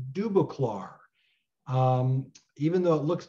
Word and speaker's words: Dubosclard: subject of Paul dubac and it's been it's pronounced dubac um even though it looks different I've been